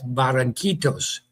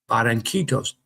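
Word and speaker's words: Barranquitas: That's Barancitos. Barancitos."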